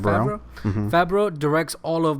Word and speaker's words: Favreau: Favreau.